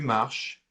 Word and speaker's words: marches: Je marche, tu marches, il marche. Note that all 3 are pronounced E, even the one with the S, because it's a silent S.